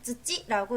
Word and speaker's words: 土: 그리고 흑이라고 하는 글자는 쯔찌라고 읽어요. 쯔찌.